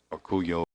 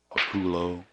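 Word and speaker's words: Orcollo: I was listening to the interviewers doing the Orculio and Yang match, and that's exactly how I pronounced his name. I've heard him called Orculo, but Orculio. Colo.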